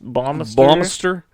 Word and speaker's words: Baumeister: Baumeister, like Bannister, but it's Baum.